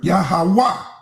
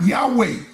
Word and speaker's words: Yahawah: But that tetogram, the only letter can go with that word spell or pronounces the word Yahawah, not Yahweh. Yahawah.